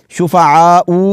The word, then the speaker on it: شُفَعَاءُ: ہے۔ یہ لفظ دیکھیے، یہاں پر واو کے اوپر حمزہ ہے اور اس کے اوپر پیش ہے، تو اس کو شفعاء ایسے نہیں پڑھنا، تو ہم اس کا